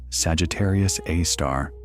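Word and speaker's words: Sagittarius A*: We call it Sagittarius A, pronounced Sagittarius A star.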